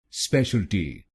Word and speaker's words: specialty: T T, so it will become Special T Special T Special Al T Special Al T Special T Special T and here you have to put stress on the first syllable i.e.